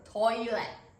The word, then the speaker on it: トイレ: But when we say it in Japanese, it's gonna be 3 syllables. So what's the word like a extend the word slowly. So toilet, toilet, toilet. Sounds similar. No T at the end.